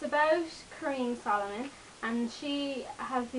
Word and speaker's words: Corine: Yes, I know it looks like it should be pronounced as Corinne, but in the book they let us know it's pronounced as Corine.